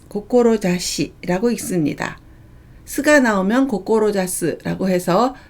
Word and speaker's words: 志: 훈독은 고꼬로자스, 고꼬로자시라고 읽습니다. 스가 나오면 고꼬로자스라고 해서 뜻을 세우다, 지향하다 라는 동사가 되고요. 아무것도 없으면 고꼬로자시라고 읽어서 뜻, 후이라는 뜻을 나타냅니다.